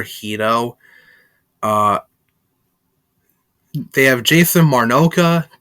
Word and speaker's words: Hedo: to voice dr hito i know he's pronounced dr hedo in the dub but i prefer hito uh they have jason